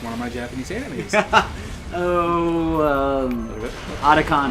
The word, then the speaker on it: Otacon: Otacon, not Otakon. Otakon is the convention.